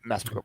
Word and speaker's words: Massapequa: And then and Bartholomew was her last known position, just based on traveling from Midtown to Massapequa. Is that how we pronounce it? Massapequa Park. Yeah. Massapequa Park.